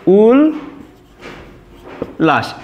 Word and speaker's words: উল্লাস: দেখো উল আমরা প্রথমে লিখব, উল, তারপরে লাশ, উল লাশ, এটা কিন্তু আমাদের উল্লাস বানানের সঠিক উচ্চারণ।